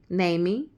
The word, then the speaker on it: Niamey: It's pronounced like Amy, Namey. It's pronounced like that. The spelling is Niameny. So the documentary that I was watching, because I couldn't get enough of it, so I went and dug deeper. Niamey.